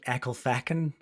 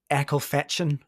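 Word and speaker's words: Ecclefechan: it is yeah and Siri the satav pronounces it as echle fetchin and it's because of the way that it's spell so it's e c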